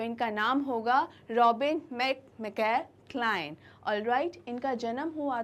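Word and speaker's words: Klein: आप ये मत सोचिए कि ये क्लीन होंगी या क्लाइन होंगी। ये एक ऑस्ट्रेलियन राइटर हैं। तो ऑस्ट्रेलिया में जो प्रोनाउंसिएशंस होते हैं वो यूके या यूएस इंग्लिश से थोड़े अलग होते हैं, इसलिए अगर आप इन्हें क्लाइन बोलेंगे तो that would be much better and appropriate. तो इनका नाम होगा रॉबिन मैकमैगे क्लाइन।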